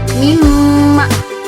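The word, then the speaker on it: مِمَّا: Kalau idgham bi gunnah itu idgham yang menggunakan gunnah. Contohnya mimma.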